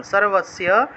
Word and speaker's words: সর্বস্য: তারপরে দেখুন 3 নম্বর সত্ত্বানুরূপা সর্বস্য, দন্ত শয়ের সাথে জফলা থাকায় সিও উচ্চারণ, সর্বস্য।